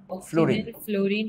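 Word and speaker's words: fluorine: carbon nitrogen oxygen ফ্লোরিন নিয়ন নিয়ন এই ব্যাটা তোরাও যদি উচ্চারণ করস ফ্লোরিন তাইলে বাংলা ভার্ষনে পোলাপান কি করবে উচ্চারণটা কি ফ্লোরিন ফ্লরিন ফ্লরিন নিজের চলটা সামনে বেরিয়ে আসবে ফ্লরিন ঠিক আছে ফ্লোরিন [সশব্দ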